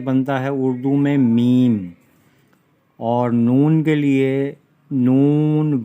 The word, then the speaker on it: میم: تو یہ میم یہ میم، تو اس کا تلفظ بنتا ہے اردو میں میم۔ اور نون کے لیے نون، واو اور نون،